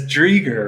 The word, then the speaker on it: Driedger: in the NHL and one of the only last names I've ever seen with a silent d can you talk about that at all it's drieger right your name is I